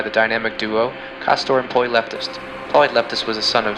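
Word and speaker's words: Pollux: Gemini's brightest star is pronounced Polyleptus, and Lynx's brightest star is pronounced Alpha Lensis.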